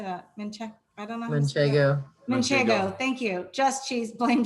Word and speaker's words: Manchego: Manchego, thank you.